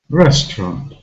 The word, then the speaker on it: restaurant: this stressed vowel sound restaurant this word has two syllables restaurant which one is stressed restaurant found the first syllable is stressed and it's trust it